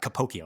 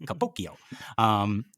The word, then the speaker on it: Capocchio: Like, and I've heard people say it out loud. Capocchio. I really like that, right? Because it is spelled like Pinocchio, right? Yes, it's the CCHIO, right? Capocchio.